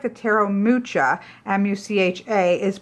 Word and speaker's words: Mucha: It is the Tarot, what looks like the Tarot Mucha, M-U-C-H-A, is pronounced Muha. The CH is a H sound.